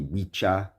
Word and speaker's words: Wicca: It's actually Wicha and Wichi and Wichan, but I'm not doing that. It has to do with the Old English pronunciations of those words, okay?